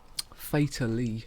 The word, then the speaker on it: Fatlee: That was Fatal Lee by Black Ant. And as I was running to the toilet then, as that was playing, I realised Fatally, as in fatally, but it's spelt Fatlee.